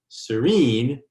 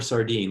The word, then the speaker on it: Sorinne: you for having me do not call her sardine like i did call her serene serene yeah so good